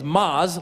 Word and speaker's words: Maz: in the world cuz my name is Maz like the word mas which means more in Spanish for some reason Mexicans